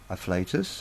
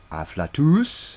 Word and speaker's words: Afflatus: actually pronounce my name its afflatus and not I flatter us as some Europeans would like to pronounce it or as some of our American cousins and possibly might try to pronounce it it's it's a real word you can look it up in the dictionary it really exists anyway